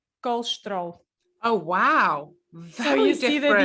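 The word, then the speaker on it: colesterol: it's very funny because in brazil they say something like and i'm here kind of trying to imitate their way um they say carleshtero okay so that's you can hear all the syllables very well in portugal we say kolstro oh wow you see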